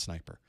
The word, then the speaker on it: Sn1per: curl or sniper and i know it's spelled sn1per that's not a misspelling that's exact that's how you would spell it but you would call it sniper which of these provides